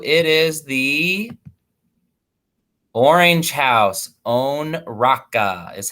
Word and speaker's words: Onraka: Onraka is how you pronounce it, Onraka.